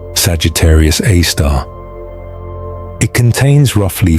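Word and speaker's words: Sagittarius A*: This object is known as Sagittarius Aar pronounced Sagittarius AAR.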